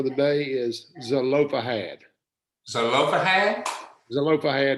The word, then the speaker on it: Zelophehad: Zelophehad is how you say it.